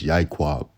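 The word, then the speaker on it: יעקב: thing all right um in the Hebrew it can be referred to and pronounced as yaqua all right as the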